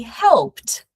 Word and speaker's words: helped: Because the important thing here is that you don't pronounce the e sound.